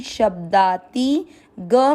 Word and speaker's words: शब्दातिगः: तीसरा चरण श के साथ आधा ब, शब्दा, ती की मात्रा छोटी, शब्दाती, ग में अ मिक्स करेंगे, शब्दातिग, ग में अ की मात्रा तो विसर्ग को पढ़ेंगे ह, शब्दातिगः।